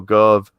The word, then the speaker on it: Gove: Cabinet Minister Michael Gove. Some dude. Something that rhymes with, it's Dove with a G.